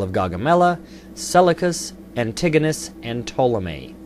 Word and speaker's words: Ptolemy: Gaugamela, Seleucus, Antigonus, and Ptolemy. The P is silent.